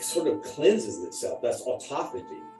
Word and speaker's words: autophagy: It sounds like autophagy when you spell it out, or it looks like autophagy, but it's autophagy. Autophagy. Think of it as two words.